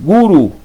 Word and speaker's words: guru: así la hacen ellos no no no lo pronuncian como es maharaj guru los gurúes es guru porque guru significa animal doméstico gurú muchos animales